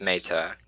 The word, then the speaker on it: Mata: this is uh mata am i pronouncing that last name right yeah i guess it gets scrapped all the time it's meta but yeah i had